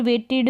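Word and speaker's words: waited: ये डी जो साथ में आ रहा है, यहाँ पर वेटेड में भी ऐसा है, ई डी आ रहा है, इड करके प्रोनाउंस कर दिया। इस डी को ड प्रोनाउंस नहीं करेंगे, इड करके आ जाएगा ये प्रोनाउंसिएशन।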